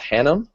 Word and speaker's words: Hannum: Liz, is your last name pronounced Hannum?